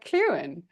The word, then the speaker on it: Clughen: It's Clughen, but let me tell you that nobody in Britain would pronounce it correctly either. All right. Here she is, Lisa Clughen.